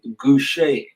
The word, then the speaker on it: Gouch: players no other than andrew gousha it is you said it right did i get that right that's man how it's pronounced okay cool welcome welcome